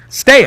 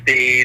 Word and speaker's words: Stea: Stea, right? You got it, Rich. Not too many people pronounce the last name properly or correctly, but you get used to it after all these years.